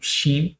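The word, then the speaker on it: שין: Então, shin, ele tem um som de CH.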